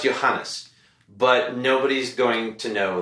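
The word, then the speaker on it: Ioannes: a guy whose name his name is spelled I Oh a n n es do you know how that's pronounced of course you don't but it's pronounced Johannes it's pronounced Johannes but nobody's going to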